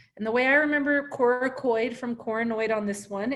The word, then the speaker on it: coracoid: And the way I remember coracoid from coronoid on this one is coracoid scapula. I remember that hard C on the scapula.